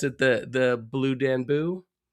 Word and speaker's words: Danube: Blue Danube. Danube. Okay. God, I'm terrible at pronouncing.